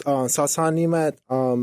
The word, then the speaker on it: Sasan Nemat: Is that how you pronounce that? So it's Sasan Nemat.